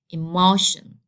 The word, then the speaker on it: emotion: So as the rule says, I have to stress the second to last. So this is the last one, and this is the second to last. So I have to make the stress here on the on this syllable. So I have to say it like emotion.